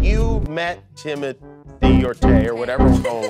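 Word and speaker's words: Timothée: kindgarten twice well uh honestly it's timot but I would not oblige you to say it like that and it could be Timothy or Timmy or Doug or Alan it's timot that's what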